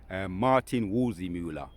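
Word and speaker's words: Martin Waldseemüller: Martin Wolzimula, right, the cartographer.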